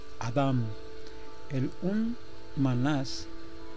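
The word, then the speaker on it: אדם: Brazo izquierdo, de derecha a izquierda, se lee Aleph, Dalen, Men. Se pronuncia Adam, el un manás, u hombre celeste, hecho a la imagen y semejanza de Dios.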